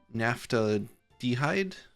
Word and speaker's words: naphthaldehyde: So really the only thing here is the naphthaldehyde. Naphthaldehyde, that's how that's pronounced.